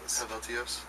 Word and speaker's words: Helvetios: How do you pronounce the new album, by the way, so I don't butcher that one? Eluveitie. Helvetios.